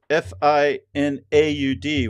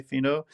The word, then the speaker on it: finaud: So that's and in French, the funny thing is Finaud, which is pronounced the same way, Fino.